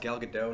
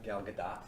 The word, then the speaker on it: Gal Gadot: yeah I like twins it's her name is pronounced gal gadot not gal gadot you are right what you said about the